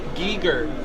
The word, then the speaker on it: Giger: of illustrations and artwork we got people in the chat room saying Giger Giger that's correct people in the chat